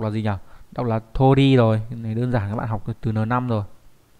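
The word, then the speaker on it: 鳥: Về kanji tương tự chúng ta có đây là chữ điểu đọc là gì nhỉ, đọc là Tori rồi.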